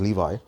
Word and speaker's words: Levi: law requires the descendants of Levy which I like to pronounce as Levi okay it says now